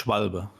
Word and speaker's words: Schwalbe: No, it's Schwalbe. Schwalbe. You really pronounce the E at the end, yeah.